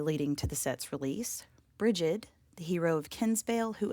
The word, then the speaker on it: Brigid: Depending on which study you might be a part of, the following name is either pronounced bridg, which is considered modern Irish, or brigid, which is considered old Irish.